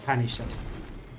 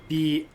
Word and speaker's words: banished: The banished knights, you know, when knight is dishonored or driven out from their home, those like a banished knights, not Spanish but banished. Banesh.